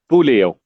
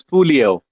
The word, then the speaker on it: Puleo: Puleo. Am I right now? Music. Am I pronouncing your name correct? It's Puleo. Puleo. No, Puleo.